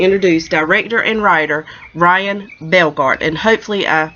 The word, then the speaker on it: Bellgardt: I want the introduce director and writer ryan Belgard and hopefully I pronounced your last name correctly right yes you